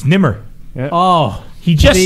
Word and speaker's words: Nemr: Our guest is Nemr. Did I say it right? You nailed it.